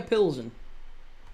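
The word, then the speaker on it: Plzeň: How to pronounce Pzen. Pilsen. Victoria Pilzen. Yeah. Pilsen. There you go. Pilzen. Victoria Pilzen. That's how you say it.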